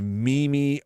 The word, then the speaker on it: meme: I'm not saying I'm skilled at this, but I am saying when you want to make the kind of meme-y artwork, and that's meme-y, meme-ish artwork.